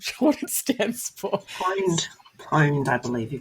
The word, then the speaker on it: pwned: Pwned, I believe you pronounce that.